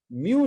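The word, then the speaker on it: μ: म्यू जो है, हाँ, एम यू ऐसे प्रोनाउंस करेंगे इसे, म्यू एस।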